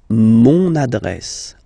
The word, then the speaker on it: mon adresse: Mon adresse, my address, mon adresse, okay, you can hear now this little link, so you've got to pronounce this N, mon adresse, okay.